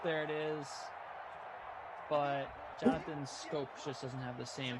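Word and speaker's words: Schoop: I'm upset that Jonathan Scope is named, it's pronounced Jonathan Scope and not Jonathan Shoop or Scoop.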